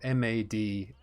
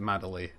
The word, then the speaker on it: Madeley: It's like made, as in I made something, like I make something but made it. And then Lee, L-E-Y, so M-A-D-E-L-E-Y. Some people pronounce it Madeley, but it's Madeley.